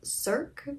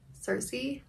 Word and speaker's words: Circe: It's been a while since I've written that, but anyway, I used to pronounce this Cirque because I didn't know the Greek goddess Circe.